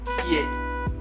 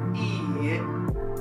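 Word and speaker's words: 家: Be careful with pronunciation, because if you say ie, ie, if you overpronunciate that first part, you're saying no.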